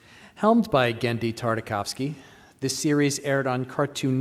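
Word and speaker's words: Genndy Tartakovsky: of this panel is the correct pronunciation of its creator's name which is gendi tartakovsky helmed by gendy tartakovsky this series aired on cartoon network for three seasons between 2003 and 2005.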